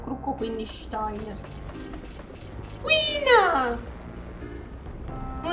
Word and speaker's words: Steiner: Ma guarda, io dico Steiner, perché essendo tutta la, la squadra Pluto prevalentemente tedesca come, come nominativi, e I si legge AI, però dipende.